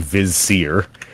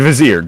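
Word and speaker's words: vizier: on okay uh your your a letter is Grand vizir not Grand Vier Grand vizir how do I spell that uh v i z s e r s like you're saying wizard with a German accent yeah GL vard okay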